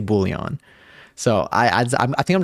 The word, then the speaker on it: Boolean: look it up and they talk about the American pronunciation the American English pronunciation they say Boolean so I I think